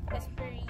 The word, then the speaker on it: Esprit: How do you pronounce this? Esprit? Espire? Esprit.